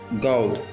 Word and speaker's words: goad: The word we'll be learning today is God. It is spelled G-O-A-D, while it is pronounced as G-O-W-D.